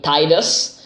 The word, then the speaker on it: Tidus: I always called him Tidus because, again, being Italian, that's how you read the name. And it sounds like a Latin sort of name.